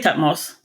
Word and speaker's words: Thutmose: How do you pronounce it? Thutmose? I say Thutmose.